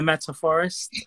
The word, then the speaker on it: Meta Forest: yeah so i'm the meta forest um forest all right so i might have said it wrong no it's cool yeah it's like a forest the metaphors if that it helps it metaphorically yeah so there's some